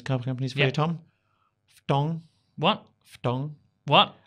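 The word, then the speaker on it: Foton: Ftong. What? Ftong. What? I believe that's how it's pronounced. F-T-O-N.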